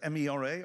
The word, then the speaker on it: MeRA: He currently leads, is it MERA or EMRA? How do you pronounce it?